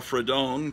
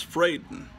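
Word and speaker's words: Fradon: is the art Ramona frayden who I used to call fredon because I thought oh it's like a Spanish name but no it's not pronounced fredon it's frayden and I know that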